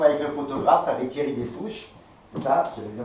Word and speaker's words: Des Ouches: Alors là nous sommes avec le photographe, avec Thierry Dessouche. C'est ça, j'avais bien prononcé.